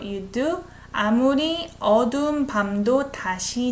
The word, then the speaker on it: 다시: 아무리 어두운 밤도 다시 낮. When I pronounce it, it's not she, it's a she, SH sound, 다시, with E vowel.